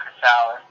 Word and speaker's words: Chrysalis: I mean, a lot of people, a lot of people pronounce it Chrysalis, which is fine, but like, what I hate is when people will like add letters to it.